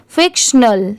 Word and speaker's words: फिक्शनल: एन ए एल स्नल यहां पर टी की साउंड ट की नहीं आएगी इसे टिनल नहीं पढ़ेंगे यहां पर स्नल की साउंड आएगी फिक्शनल ठीक है ये है स्टोरीज